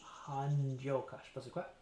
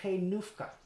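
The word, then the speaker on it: Hajnówka: to some people in hanyoka sorry switch languages there i don't know what han joka is apparently it's pronounced kenufka okay is a town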